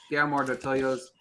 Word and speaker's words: Guillermo del Toro: RRR, Guillermo del Toro's Pinocchio.